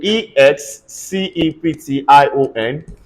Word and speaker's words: exception: t i o n i want you to pay attention to whenever you have XC you are likely going to have KS this is pronounced exception everybody say exception one